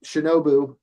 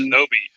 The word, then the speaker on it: shinobi: And Tengen's a much funnier guy because he was a shinobu, or is that how you say it? He was a ninja, and he Shinobi.